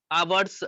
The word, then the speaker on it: hours: A state government may make rules of the provision of suitable place for keeping clothing not worn during working hours and for the drying of wet clothing as per इसको the hours Maharashtra नहीं factories बोलेंगे, rules.